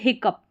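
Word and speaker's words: hiccough: फिर यहाँ पर देखिए 8th नंबर पर दे रखा है हिकअप। क्या दे रखा है? हिकअप। OUGH का उच्चारण अप करके आ रहा है।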